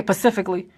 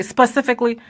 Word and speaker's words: specifically: just to spit but you ever hear somebody say pacifically when they suppose it when they trying to say specifically I went there Pacific